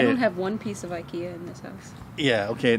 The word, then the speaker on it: IKEA: your house that is ikea ikea that's a swedish pronunciation and the english we saw ikea ikea ikea okay it's actually ek that's